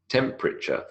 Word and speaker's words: temperature: Temperature. Temperature, 3 syllables. Not temperature, temperature.